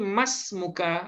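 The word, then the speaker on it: ما اسمك: Nah, ternyata dalam penggunaan bahasa Arab oleh orang-orang Arab sendiri, itu mereka mengucapnya bukan manis muka atau man ismuka, tapi mas muka atau masmuk.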